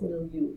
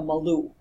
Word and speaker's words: milieu: I had a student once whose name, now some people mispronounce milieu. They call it, on the unit there are some staff that call it the Malou.